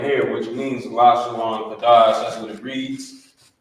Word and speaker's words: Lashawan: Instead of saying Lashawana, it would just be Lashawan, but because of the connector that's here on the bottom.